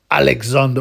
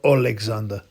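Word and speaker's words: Oleksandr: to the Tyson Fury Alexander usk fight and that's how you correctly pronounce it alexand not Alexander apparently that's what he calls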